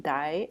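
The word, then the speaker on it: 代: The next kanji we're going to look at, the second one, is pronounced dai or tai.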